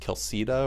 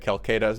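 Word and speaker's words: Quilceda: I'm pretty sure it's actually pronounced Kilsida or something like that, and a guest made fun of me once for pronouncing it Calcada, but whatever, we're gonna roll with it.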